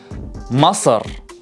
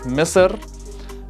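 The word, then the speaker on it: مصر: completely different in arabic egypt is masar ma now different dialect may pronounce it differently like mr but in the iraqi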